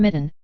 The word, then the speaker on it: Mitten: adapt to cold cinnamon Mitten whose name is pronounced with the accent on the second syllable of Mitten which makes it less